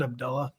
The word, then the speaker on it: Abdullah: one who remembers it he pronounces it Abdullah by the way not Abdullah good note good note